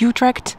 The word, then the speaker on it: Utrecht: It does say that the water pipes are from a company owned by Utrecht, which I think maybe you could know as Utrecht. I have heard people pronounce it that way.